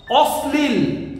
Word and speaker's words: অশ্লীল: অশ্লীল তালবস্যর সঙ্গে ল যুক্ত আছে, তাই আমরা কোনোভাবেই বলবো না অশ্লীল, আমরা বলি অশ্লীল।